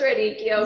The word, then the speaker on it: radicchio: This might be jumping ahead, but when I went to the store to get the, how do I pronounce the radicchio?